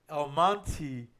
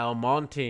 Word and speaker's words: El Monte: but since it ends with the E they pronounce it in English everybody in English El Monti like the name m o n t why because that's just how weird English is oh yeah El Monte yeah they always they just add the why